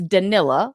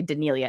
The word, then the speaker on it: Danila: So, in case you guys didn't know, it's Danilla, like vanilla. But for some reason, I like to add a little spice to it and always say Denilia. It's Danilla.